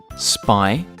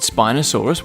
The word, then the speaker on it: Spinosaurus: Spinosaurus.